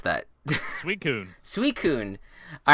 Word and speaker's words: Suicune: I'm so bad with Suicune. So Sui, like the first part of sweet. Yes, and then Coon, the second part of raccoon.